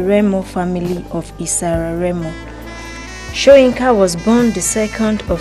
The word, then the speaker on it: Soyinka: Akinwande Oluwole Soyinka, pronounced Soyinka, born 13 July 1934, is a Nigerian playwright and poet.